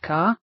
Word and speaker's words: Ka: I come from a planet that goes by the name of Ka, which is pronounced like your letter of the alphabet K, and it is my home planet.